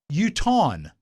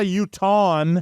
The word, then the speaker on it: Utahn: Utahn. A Utahan. No, it's It's How's it two spelled? syllables. It's not a Utahan. Mike. It is. It's Utahn. Utahn.